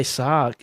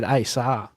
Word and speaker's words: SZA: I used to say SZA, S-Z-A, SZA. But no, it's SZA.